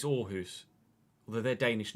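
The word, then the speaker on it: Aarhus: that it it was the double A was sounding more like an or like an O r like orus you don't you say it's the the club is called orus isn't it not aus it's orus although they're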